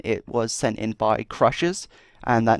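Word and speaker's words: XSHZ: by once again it was sent in by crushes and that name is spelt X s H Z I did have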